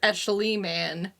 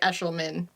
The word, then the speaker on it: Eshelman: So if people pronounce my name phonetically, they would pronounce it Escheliman, but it's actually Eshelman.